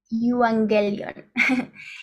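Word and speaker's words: εὐαγγέλιον: a la 20 89 que se pronuncia y wang de lyon y significa la buena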